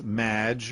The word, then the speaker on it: Madge: It's Madge, which rhymes with badge, as in duh, and no as in more than you. Maginot.